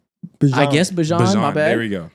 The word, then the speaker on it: Bijan: I guess Bijan just... Wait, are you pronouncing it right? I guess Bijan, my bad.